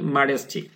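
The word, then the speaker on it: modesty: করে মারেস্টি মানে ভদ্রতা মডেস্ট হবে না আমেরিকান প্রোনাউন্সিয়েশন মারেস্টি তাহলে মারেস্ট থেকে মারেস্টি মারেস্ট মানে বিনয়ী বিনয়ী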